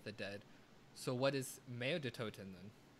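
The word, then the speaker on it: Mauer der Toten: Mare de Toten.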